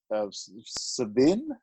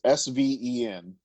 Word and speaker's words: Sven: This book tells the story of Savin. How do you say that name? Somebody pronounce that name. With an E at the end? No, it's Sven. Oh, Sven.